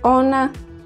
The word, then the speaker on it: ona: like on she is honna sounds like onna it is ono sounds